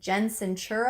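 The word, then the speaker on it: Sincero: the author of you are a badass Jensen Jensen sure oh that's how you say her name she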